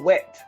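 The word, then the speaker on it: Whett: It's about this girl named April Wett, W-H-E-T-T. The second T is silent.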